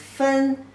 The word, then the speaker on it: 分: The pronunciation is 分.